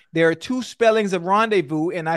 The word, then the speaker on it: rendezvous: Rail and Ocho had a secret rendezvous. The word is rendezvous. Rendezvous. R-E-N-D-E-V-O-U-S. V-O-U-S. No. Whoa. Wait. Rendezvous. Stay with me, babe. Stay with me now. R-E-N-D-E-V-O-U-S. That's rendezvous. No. R-E-R-E-N-D-E-Z-V-O-U-S. The Z is silent.